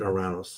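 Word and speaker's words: Uranus: So, then the next planet is Oranis. The Greeks pronounce it Oranos.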